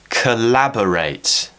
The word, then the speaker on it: collaborate: word coming up now collaborate we have two schwarz here so this is a great way to practice it kur lab BRR rate collaborate where's the stress it's on lab collaborate and we can also